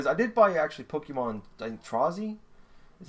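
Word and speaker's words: Trozei: Um but still in enjoying for I did buy actually Pokemon Trazzy is how you pronounce it.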